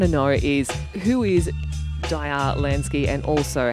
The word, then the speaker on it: Diar Lansky: and um before we go on have i pronounced your name correctly yes it's actually dire land daya lansky all right let's get that right straight up